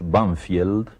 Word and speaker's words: Banfield: Porque era un Banfield muy distinto al que se conoce ahora. En uno de los suburbios de Buenos Aires, que nosotros pronunciamos Banfield, pero que tiene un nombre inglés, Banfield, y ese nombre inglés